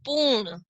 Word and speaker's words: पूर्ण: अगला शब्द देखते हैं, प बड़े ऊ की मात्रा, ऊ, ण के ऊपर रेफ की मात्रा, पूर्ण, र की ध्वनि बीच में आ रही है।